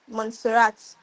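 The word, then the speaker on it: Montserrat: We have Monserat. And this Monserat, the pronunciation is not how it's spelled.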